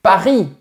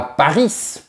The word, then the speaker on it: Paris: Vous dites Paris et pas Paris.